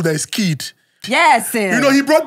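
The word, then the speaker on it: Khaid: the name of person who pronounce him Kid, when I say K-H-A-I-D. Why not at K-I-D? Can't go K-H-A-I-D. Or even K-H-A-I-D. Okay, I-D. But I interviewed him. Then they funkify name these days. The H and the A is silent.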